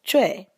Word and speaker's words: Choi: But um we want to make sure that Choi is pronounced Choy.